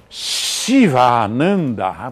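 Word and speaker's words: Shivananda: uma maneira diferente mas o sivananda que eu prefiro escrever com SH vou dizer porquê Porque CVA em sânscrito é costureiro e Ananda é bem-aventurança então se eu pronunciar mal oa o cara que alcançou a bem-aventurança através de um costureiro não fica bem né mas se eu disser Chiva Shiva Nanda bom alcançou a bem-aventurança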